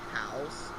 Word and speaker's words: Haus: Especially the first one, I think it's called House, like Haus is how it's spelled.